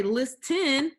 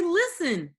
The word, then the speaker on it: listen: because it's silent you don't say list 10 you say listen let's go over the